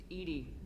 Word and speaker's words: EDI: Edie. EDI is the phonetic pronunciation of EDI. That is an acronym for Enhanced Defense Intelligence.